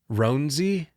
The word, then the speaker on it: Roansy: Game 2, is it Roansy Contreras? Ronzi. Sure.